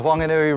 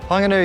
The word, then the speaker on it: Whanganui: I'm standing here by the Whanganui River and you'll hear me pronouncing Whanganui with a very soft hua sound rather than the traditional fa sound, and that's a dialect of the Te Reo in this region.